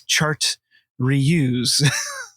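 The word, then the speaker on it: chartreuse: of green chartouze and i did look that up to figure out how to pronounce it because when i look at that word i just can't do it it's chart reuse it's just an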